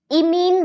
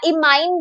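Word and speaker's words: imine: जो कि क्या बनेगा इ मीन बनेगा या इमाइन भी कुछ लोग प्रोनाउंस करते हैं इट इज अप टू यू ठीक है तो इ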